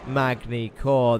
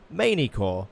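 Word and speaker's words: Magny-Cours: it is of course magni core the French circuit circuits or as Andre myerak keeps telling me to say it manicor or manicor without pronouncing the G but I refuse I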